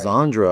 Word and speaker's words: Sandra: Sandra or Sandra? What's the correct way to say that? - Sandra. - Well, Zandra, I heard her say earlier. - Zandra? - It's a bit of a Z, yeah.